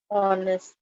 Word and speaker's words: honest: Honest. Honest, very nice. He is an honest man. Again, because H is silent, but not just because H is silent, but because you're getting the sound O.